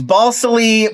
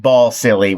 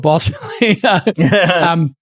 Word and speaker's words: Balsillie: I think it's Balsillie, but people, as a joke throughout the movie, people keep mispronouncing it Balsillie, which he does not like. Balsillie, yes, yeah. So I'm going to go with Balsillie.